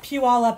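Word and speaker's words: Puyallup: from here not that we're that great at pronouncing it either but yeah pew all up is definitely another one that's not set at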